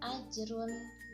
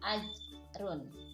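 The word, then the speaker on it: أَجْرٌ: contoh-contoh yang pertama adalah ajrun ghairu nah disini AJ Run dibacanya Berarti ada pantulan di huruf ja ajrun bukan dibacanya agtron ya harus pemantul karena di sini ada hukum Qalqalah Ajib turun mengguyur nah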